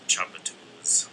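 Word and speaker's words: Tchoupitoulas: But I remember from being there that it's closer to Chapatoulas. Remember the chop part?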